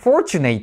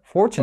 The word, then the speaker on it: fortunate: 発音してますそうフォーチュネイトって発音してでしょこれフォーチュネイじゃないですかねこれ fortun ですよね別に発音知ら